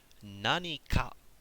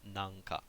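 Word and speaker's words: 何か: Nanika. Alright, notice that pronunciation. Nanika, not nanka. Nanika. Alright, there's a big difference between these words. I know it's crazy, but nanika means something.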